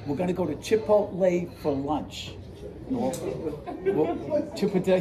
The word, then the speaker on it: Chipotle: We're going to go to Chipotle for lunch. Chipotle? Did I say it wrong? I've been saying this wrong for Chipotle.